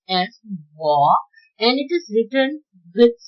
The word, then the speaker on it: 我: I is pronounced as 我 in Mandarin Chinese. I is pronounced as 我 and it is written with 7 strokes.